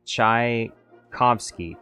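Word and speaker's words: Tchaikovsky: say his name wrong chai as in chai t c as it sounds uh phonetically and in sky is in ski so chai kovsky chovsky is that correct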